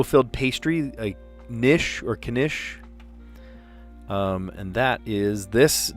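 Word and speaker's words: quiche: So it's kish. Yeah, you do pronounce the k.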